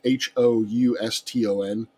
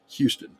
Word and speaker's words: Houston: words that are um like houston houston uh h-o-u-s-t-o-n um it can depending on if you're south of the mason discussion line that's houston if you're north of